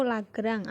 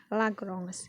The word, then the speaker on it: Lagrange: Pengucapan sebenarnya dari Lagrange, karena kita orang Indonesia, itu Lagrange atau Lagrangian. Tapi dalam Prancis sebenarnya adalah Lagrange, ya, Lagrange dalam Prancis.